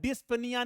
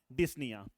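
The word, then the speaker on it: dyspnea: है क्या लिखा है डिस्प निया नहीं है बेटा यहां पर भी क्या है पी आपका साइलेंट है तो मार्क माय वर्ड ये क्या है आपका बेटा डिसन या आ गई बात समझ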